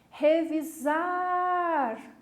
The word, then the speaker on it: revisar: lá do outro lado vou gritar revisar perceber o que eu puxei na última sílaba portanto é uma palavra oxítona vamos fazer com